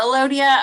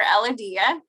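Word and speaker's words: Elodea: in missouri um so i have heard this pronounced multiple we saw pronounce it both ways for you but uh elodia or ella dia um this is a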